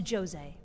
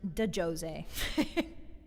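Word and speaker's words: Djose: Welcome to Jose. That's Jose with a D. When you were younger, you may have pronounced it de Jose, but you are wrong.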